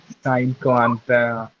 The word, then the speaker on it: cinquante: Once again, the last E is silent. Stop till T. Yes, what's your doubt? Okay, fine. Now, 40. How will you pronounce 40? Karant. Repeat, Karant. Karant. 50. Cinquante.